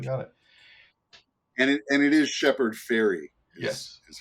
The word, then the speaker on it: Shepard Fairey: And it is Shepherd Ferry Yes. is how you pronounce it.